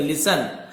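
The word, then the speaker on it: listen: आपको लिसन टू तो यहां पे टी साइलेंट है लिस्टन नहीं पड़ेगा लिसन साइलेंट लेटर होता है माय टेल टेल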